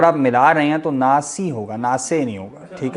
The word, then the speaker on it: ناس: جو زیر ہے نا، زیر کو ہم یعنی مجہول نہیں پڑھیں گے بلکہ لٹا کے پڑھیں گے، ناس سے پڑھیں گے نا تو وہ عربی لہجے سے الگ ہو جائے گا، ناسی پڑھیں گے، ٹھیک ہے۔